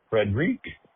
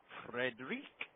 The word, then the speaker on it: Frederick: Frederri Frederick.